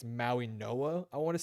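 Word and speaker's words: Mauigoa: I think it's Maui Noah I want to say is how you pronounce it. I think the G is pronounced as an N.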